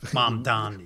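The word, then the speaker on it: Mamdani: Mandami. Mandami.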